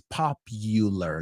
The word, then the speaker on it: popular: You said popular. It's popular. La U se dice como you, como tú. And something you want to say, algo te empieza a gustar más y más cada vez.